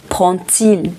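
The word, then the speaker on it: Prend-il: En esta pregunta, la D de prend se pronuncia como una T. Prends-t-il le train?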